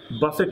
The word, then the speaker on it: buffet: কিন্তু মনে রাখতে হবে BUFFET একই সাথে বুফে এবং একই সাথে বাফেট, অর্থাৎ এই শব্দটি বুফে উচ্চারণ হতে পারে, বাফেট উচ্চারণ হতে পারে, বাট যখন উচ্চারণ করবেন বাফেট তখন এটা একটা ভার্ব এবং এর অর্থ হলো